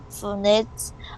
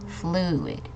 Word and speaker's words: fluid: No matter how you push on them, these fluids always act the same way. Okay, thank you, Jagger. Just a minor note, this word is pronounced fluid. Okay, so we're focusing on the U here, so fluid.